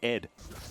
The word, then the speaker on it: ADD: And you're supposed to pronounce it Ed.